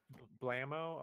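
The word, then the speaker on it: Blaumeux: Blamo.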